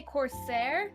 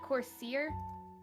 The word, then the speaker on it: corsair: So, it's a matter Are you sure you weren't trying to say Corsair, not Corsier? Cuz I think you mispronounced that word.